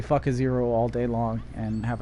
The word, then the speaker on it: Fukaziroh: The fact that her name is pronounced to me, Fukaziroh. Fuck a zero. That's how I pronounce her name.